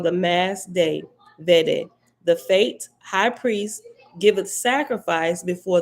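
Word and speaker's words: Fete: this one by now is fate but it's spelled f-e-t-e fate sign of sanctification panic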